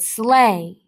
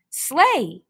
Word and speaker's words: sleigh: this is the word slay santa will deliver his gifts on a sleigh slay you'll notice that the gh at the end of the word slay are silent e i together is